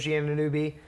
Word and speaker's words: Anunoby: Some mainstays of the Raptors, OG Anunoby. I don't know if I pronounced that It's right. Anunoby.